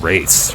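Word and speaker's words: wraith: let's roll out some race right not quite alliteration because roll stamp starts with with r and race starts with w even though the w is silent i like i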